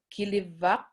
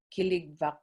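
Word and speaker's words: kiligvak: for the word mammoth we have kiliva that's spelled k-i-l-l-i-k um v-v-a killig and we also have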